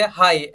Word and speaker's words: high: GH, okay, जैसे कि पहला वर्ड देखिए हाई, HIGH, इसको हाई पढ़ना है हमें। ओके, GH जो है ऑटोमेटिकली क्या हो जाएगा, साइलेंट हो जाएगा।